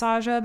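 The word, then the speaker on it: 사자: There's another word in Korean that's pronounced exactly the same, also pronounced Saja, that means messenger or envoy.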